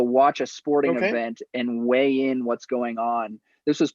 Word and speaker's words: WeighIn: WeighIn is a startup here in Denver, and when I graduated, kind of like weighing in on a topic. The concept was to watch a sporting event and weigh in what's going on.